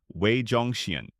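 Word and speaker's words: 魏忠贤: Wei Zhongxian, pronounced Wei Zhongxian, who lived from 1568 to 1627.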